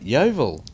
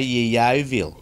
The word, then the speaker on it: Yeovil: That right, Yeovil. Yeah. Why did you not say Yeovil?